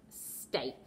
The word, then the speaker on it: steak: Okay, and then one that rhymes with break, steak.